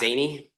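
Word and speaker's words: Szany: Miss Zaney, Pardon? Miss Zaney, like Zaney, okay.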